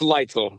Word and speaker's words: Leitzel: First of all, is your last name Lizel or Leel? It's lightful. Okay.